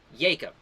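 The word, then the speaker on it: Yacob: it is a because the biblical pronunciation the J is a y that is the correct name of pronouncing Jacob is Jacob y-a-c-o-b uh you don't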